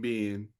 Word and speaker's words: Binh: I worked with a lady named Ben. I'm out. No, I did. Swear to God, I did. And it was spelled the same way, B-I-N-H. So, and that was the first time I heard the name Ben, but once I saw it spelled, I'm like, all right, that makes sense.